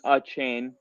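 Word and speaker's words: Achane: And I got down this deep rabbit hole into Devon uh chain. That's how it literally on Texas&M's website. It showed you how to pronounce it and it was like a uh chain.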